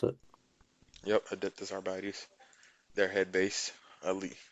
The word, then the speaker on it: Adeptus Arbites: Adeptus Abartes, I think is how you pronounce it. Yep, Adeptus Arbites.